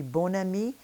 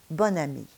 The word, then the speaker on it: bon ami: You would think it would be bon ami, but it is bonne amie.